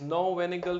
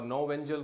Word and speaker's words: Knoevenagel: It's no-Vanagle reaction or no-Vengel reaction. Pronunciation may be both possible.